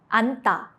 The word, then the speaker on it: 앉다: 앉다, to sit. Only 니은 is used.